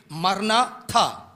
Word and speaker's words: maranatha: Now if you split like this, M-A-R-A-N-A, and then leave a hyphen and say T-H-A, maranatha.